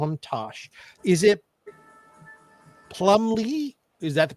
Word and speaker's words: Plumlee: Is it Plumbley? Is that the pronunciation? Right. You got it. Yeah. Plumbley.